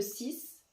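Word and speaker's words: six: Comme le 6, à la fin, on écrit X, mais on dit S.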